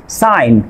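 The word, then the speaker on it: sign: তারপর খেয়াল করেন সাইলেন্ট লেটার জি এর পরে এন থাকলে, ভেরি ইজি, জি এর পরে এন থাকলে আপনার জি লেটারটি সাইলেন্ট থাকবে। এখানে খেয়াল করেন সাইন, ডিজাইন, নোম, জি এর পরে এন আছে।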